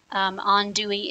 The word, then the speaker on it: andouille: first time using Zatarain's andouille sausage on Dewey is the pronunciation for that word in case you're curious